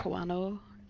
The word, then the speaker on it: Kawano: Kawano. There we go. Yes. Junko Kawano. I cannot pronounce that.